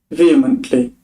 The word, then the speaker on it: vehemently: an interesting word I don't know how it's pronounced so let's see vehemently vehemently okay in forceful passionate or intense manner